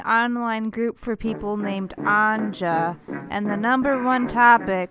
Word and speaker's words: Anja: group for people named Anja, and the number one topic they all seemed to bond over was the fact they hated it when people pronounced the J.